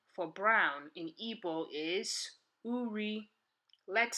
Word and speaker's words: uri: Another translation for brown in Igbo is uri. Let's spell it.